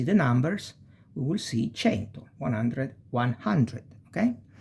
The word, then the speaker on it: cento: And cento. When we see the numbers, we will see cento, 100, 100, okay? So, cesta, ceci, cerbiatto, cesoie, cento, ce. You pronounce like chest.